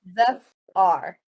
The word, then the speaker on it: Zephyr: Just pronounce the Zeph and the R. Zephyr. Zephyr. Zephyr. It's like Jafar, but with a Z.